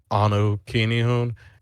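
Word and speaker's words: anukinihun: always find me on my instagram which is anukini hoon it is spelled a-n-u-k-i-n-i-h-u-n you can always find me on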